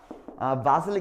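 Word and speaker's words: Wassily: With the expressionist, 표현주의화가 바실리 칸디스키라는 사람인데 이렇게 독일 발음이 W에서 V 소리가 나가지고 바실리니까 그냥 읽는데 어렵지 말라고요.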